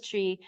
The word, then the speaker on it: Twi: And Chi, it's TWI, but it's pronounced Chi, and Ga are the languages. Where I was, the language was Chi, and the money is cedis.